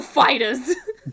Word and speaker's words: Foo Fighters: them he asked them how it was supposed to be pronounced like where the emphasis was he was like uh the emphasis is on fighters so they went out